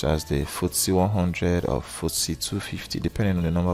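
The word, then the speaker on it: FTSE: market you can look at is the e pronounced footsie now this this um footsie tracks the performance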